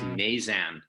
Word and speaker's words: Knazan: It's a silent K, so it's pronounced Nazan.